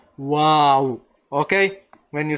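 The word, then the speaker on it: واو: But it's the same when you this is not the same letter as V. No, it's not the same English letter as V.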